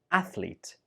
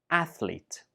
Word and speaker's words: athlete: We pronounce it as athlete. Athlete. This word has 2 syllables only. Athlete. Some students use it with 3 syllables. athlete, but that's not correct. It only has 2 syllables, athlete.